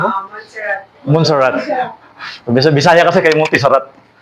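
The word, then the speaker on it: Montserrat: Ang gamit ko po ay Montisarat. Monarat. Montarat. Tama ba yung ano ko bro? Pronunciation ko? Monsarat.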